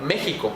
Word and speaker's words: México: Ejemplo puede ser la mismísima palabra México. La utilizamos como pronunciación J, a pesar de que sea la letra X, no es la pronunciación X o KS.